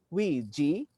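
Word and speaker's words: 危机: In an unprecedented crisis like this, let us consider the word interpretation of crisis in Chinese literature, which is pronounced Wei Ji, which invites everyone to see both danger and opportunity.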